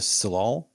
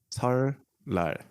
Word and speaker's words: 설날: And then another at the start of the lunar calendar, known as am I saying it right? The Salal? It's called 설날. 설날.